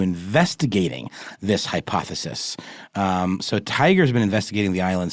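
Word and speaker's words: TIGHAR: historic aircraft recovery or tiger or tiger yes with GH though TI i g h a r I still think that's pronounced tiger and it's an organization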